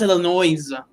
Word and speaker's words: Illinois: It's pronounced Illinois.